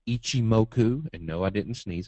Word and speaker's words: Ichimoku: On candlestick pattern at the bottom, you see where it says Ichimoku, and no, I didn't sneeze. That's how you pronounce it.